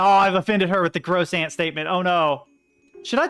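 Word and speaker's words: croissant: saying Crimson was that I learned from du lingo that it's pronounced gross an right that that um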